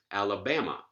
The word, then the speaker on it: Alabama: clearly a light syllable alabama ii last syllable here is back clearly a light syllable rubella ii last syllable